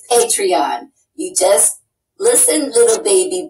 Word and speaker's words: Patreon: this is this patreon it's pronounced patreon and it drives patreon nuts not that I'm defending patreon and I'm really I'm done with patreon they are censoring people and 15 people also increasing their accounts but this idiot cannot even pronounce patreon right so listen youtubers happy